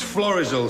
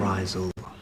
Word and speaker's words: Florizel: It's Florizel Street. This is Rover's return. Elsie Tanner's living room. Florizel. I beg your pardon? Oh, I'm sorry. It's just that... Yeah? Well, you said Florizel?